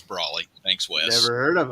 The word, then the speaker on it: Brawley: When bill collectors call and they ask for Mr. Braley, I say that nobody goes by that name here. So it's Brawley.